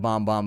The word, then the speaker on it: Bam Bam: it's bomb bomb they she said Bom Bomb but it's spelled Bam Bam but anyways bomb bomb